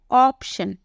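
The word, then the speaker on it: option: ओ है लेकिन इसका साउंड क्या निकलता है ऑप्शन वैसे ही अपॉर्चुनिटी यही बोलते हो यहां पर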